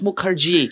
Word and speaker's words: Mukherjee: yaitu adalah Lina Mukerji kata bacanya harus Mukerji artinya orang apa salah